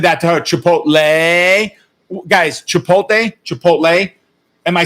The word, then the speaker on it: Chipotle: did i call it she said chipotle i said yeah she said no that's not correct it's how's the right way to say chipotle chipotle which i of course